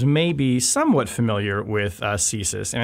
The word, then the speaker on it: CSIS: right American listeners may be somewhat familiar with ceases and it's important we should say because also we're in Washington it is pronounced thesis it is not csis which is a very prominent Think Tank here